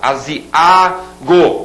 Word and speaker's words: aziago: agourento de mau Presságio aziago esse a sozinho e a sílaba tônica pudico e não publicou como muita gente fala pudico barbaria Falar i.a.